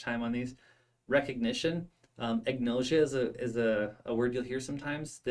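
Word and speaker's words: agnosia: spend too much time on these recognition um ignosia is a is a word you'll hear sometimes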